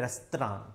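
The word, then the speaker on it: restaurant: अच्छा, अगर अपन अमेरिका में जाते हैं तो इधर इसको बोलते हैं रेस्तरां। क्या कहते हैं, रेस्तरां।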